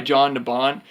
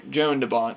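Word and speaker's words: Jan de Bont: it was directed by John de bon who also drew me not John Joan Joan de Bont sorry I'm I always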